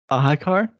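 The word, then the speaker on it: Ahiqar: The Q is pronounced like a K. Ahikar?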